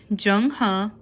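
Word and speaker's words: Zheng He: Born in 1371, Jung Huh, pronounced Jung Huh, was forced to join the Chinese army at age 10.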